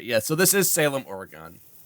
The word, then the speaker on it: Oregon: the west coast man Oregon is how they say it north or guys like I want to go I want to play Oregon trails yes that is that is how you say it in Ohio or at least that's